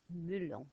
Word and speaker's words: melon: So melon, oh look, it's exactly the same spelling, but it's pronounced melon in French, and it's got a little M.